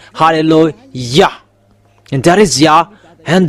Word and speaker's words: Hallelujah: to glorify that halleluah there is no one saying hallelujah you know are wrong fans that people are saying it becomes hallelujah even in your Bible saying halleluah and that is yah